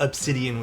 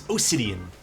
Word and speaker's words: Osidian: And no, it's not Obsidian with a B, it's Osidian.